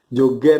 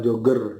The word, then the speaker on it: Joger: lihat ingat ya guys Joger ya bacanya bukan Jogger Jangan salah lagi gitu